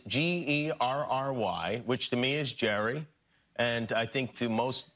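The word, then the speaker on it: Gerry: Jerry. Jerry? Yeah. Not Gary.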